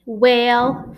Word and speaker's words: whale: We're going to put a long A sound above the A And we're going to do vowel, consonant, E.